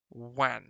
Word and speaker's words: wan: is pale you would describe it as being wan that's how you pronounce that w a n one which means